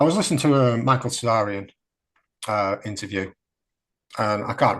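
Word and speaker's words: Tsarion: end this I was listening to to Michael cesarian uh interview and I can't recommend this stuff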